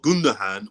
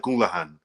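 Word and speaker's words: Gündoğan: I thought it was pronounced Ilkay Gundogan. It's better than the people that say Gundogan, and you hear people pronouncing hard G's in there and shit.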